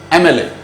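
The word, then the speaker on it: MLA: तो दोस्तों इस वर्ड को देखें, एमएलए, शुरू तो एम से हो रहा है। अगेन डेफिनेशन पे बात करेंगे कि इसका प्रोनाउंसिएशन क्या है। एमएलए, जो पहला लेटर आप साउंड कर रहे हैं वॉवल साउंड है, तो आर्टिकल एन का यूज कीजिए।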